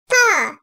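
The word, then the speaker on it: ط: Ta. Dil ucunun üst damağın ön tarafına üst ön dişlerin dibine değmesiyle çıkartılır. Ta. Bazen arkadaşlar tı diye de çıkartıldığı oluyor.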